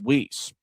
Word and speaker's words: Weese: The Fuel will pitch it in and in particular Tyler Weese, whose last name kind of looks like Weiss like Walt Weiss, the current Atlanta Braves manager, but the pronunciation guide for Indy says Weese.